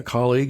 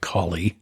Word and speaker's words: colleague: Fewer than 1 in 5 think dating a colleague is unprofessional. Let's put that in a more positive way. 4 out of 5 say it's fine to date a colleague. Let me pronounce that better. Colleague, not collie.